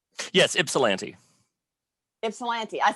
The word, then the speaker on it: Ypsilanti: Did I pronounce your city correctly? Yes, Ypsilanti.